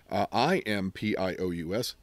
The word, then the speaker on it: impious: It is where we get words like piety, impiety, pious, P-I-O-U-S, the adjective, although we pronounce it differently in the negative, I-M-P-I-O-U-S, impious.